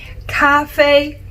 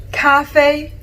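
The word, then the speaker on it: 咖啡: coffee super easy right it's just a similar pronunciation i'll say it again cafe cafe coffee easy peasy if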